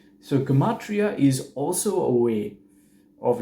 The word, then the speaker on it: Gematria: mata you can see that connection there so Gematria as you would pronounce it nowadays is this original way of